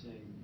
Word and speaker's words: Shay: It's Shay. It's 2 syllables.